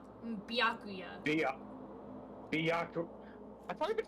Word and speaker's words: Byakuya: About Bakuya. You think he's being brainwashed or Bakuya. what? Dude, I just can't for the life of me pronounce his name right. Byakuya.